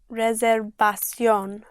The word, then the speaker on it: reservación: So the V, pronounced with your lips, like your soft B.